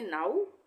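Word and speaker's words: now: उसी तरह से नाउ और अलाउ, सब में हम आ ऊ का उच्चारण करेंगे।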